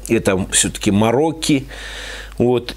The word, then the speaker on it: Marocchi: Многие читают как «Марокки». На самом деле читается это все-таки «Марокки».